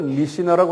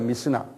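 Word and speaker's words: Mishnah: 그래서 그것을 미시나라고 그래요. 미시나. 한국말 미시나. M-I-S-H-N-A-H라고 그래요. 한번 발음해 보세요.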